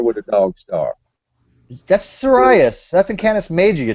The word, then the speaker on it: Sirius: It's pronounced Sirius.